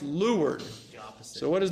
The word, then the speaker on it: leeward: sailboat okay what do Leeward is is not pronounced Leeward is pronounced lward oppos so what is L facing away it's